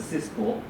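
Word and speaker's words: CISPR: types of the certification like CSPR it's called sometimes we call We pronounce this as a Cisco uh 25.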